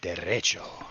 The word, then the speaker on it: derecho: It's actually a Spanish twist. It's derecho. No, you gotta say it like derecho.